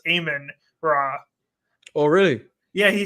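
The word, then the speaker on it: Amon-Ra: is playing very well am man raw did you know it's a I think it's actually pronounced aan raw oh really yeah he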